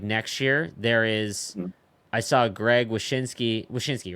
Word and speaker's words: Wyshynski: I saw Greg Wyshynski, right?